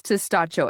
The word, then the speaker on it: Testaccio: It's Testaccio.